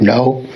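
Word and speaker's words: の: particle this word and it's no just sounds like the word no and so in english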